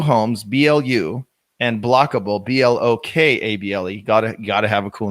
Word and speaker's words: Blokable: Entekra, Entekra, Blue Homes, BLU, and Blockable, BLOKABLE.